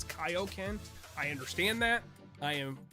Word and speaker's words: Kaioken: from my video that I pronounced Koken wrong it's Kaioken I understand that I